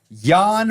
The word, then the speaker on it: Jan: that I get called Jan pretty much every day of my life hi Jan spells like Jan pronounced like yan yan all right and